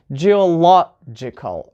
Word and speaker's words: geological: third from the end let's see we have geological right this is the third syllable from the end law Jill logical or will have critical so